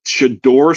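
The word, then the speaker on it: Shedeur: His name is Shador. Say his name correctly.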